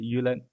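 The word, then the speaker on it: Jylland: be west of uh jordan or if you pronounce correctly yulin yeah that's like the main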